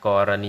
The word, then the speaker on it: กรณี: สังเกต คำ ว่า กรณี กรณี เป็น การ อ่าน แบบ ก ไก่ รอ เรือ ไม่ มี รูป สระ อะ แต่ คำ ว่า ละเนี่ย ให้ อ่าน ออก เสียง เป็น สระ อะ จึง อ่าน ว่า กรณี มี คำ ไหน ที่